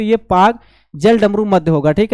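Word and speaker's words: Palk: ये पाक नहीं पी ए के ये पाक नहीं। पाक पाकिस्तान वाला पार्क नहीं। ठीक है? तो ये पाक है। पी ए एल के है। एल साइलेंट है यहां पे।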